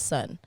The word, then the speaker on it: S.O.N: obviously stylized as is o n but you pronounce it as son yeah yeah so break that down for us